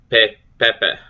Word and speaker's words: pepe: Pepe, butterfly or moth. Both vowels sounded as in bet. Long E sound. Pefea. A sounds, okay, so pepe, pefea.